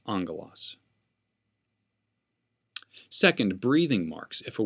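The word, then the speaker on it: ἄγγελος: see the two gammas there in ongolos it's pronounced angolas not gamma with another gamma key kappa or xe and we have the m sound angalos second breathing marks if a word begins with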